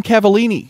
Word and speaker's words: Cavalline: Ryan Cavallini is here with us tonight, ladies and gentlemen. Yeah, Cavallini.